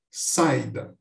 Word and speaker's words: saída: por exemplo saída aqui Não há dúvida de que é um hiato Já que eu não consigo pronunciar saída com um ditongo toque muito claro onde